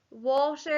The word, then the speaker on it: water: with our first box water is a tricky word because the ah is making the all sound at the end finally